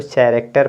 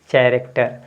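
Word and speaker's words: character: में क्या हो जाएगा देखिए सी एच है तो यहां पर इसको चरेक्टर पढ़ना चाहिए ना सी एच ए आर ए सी टीई आर कैरेक्टर लेकिन कैरेक्टर ना होकर कक्ट है क्या है कैरेक्टर है यानी एक्सेप्शन है क्या है एक्सेप्शन एक्सेप्शन एक्सेप्शन मींस अपवाद है आपका य ठीक है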